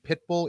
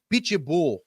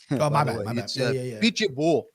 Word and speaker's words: Pitbull: You guys are saying Pitbull. It's a Pichool. Pichull. He's Brazilian guys.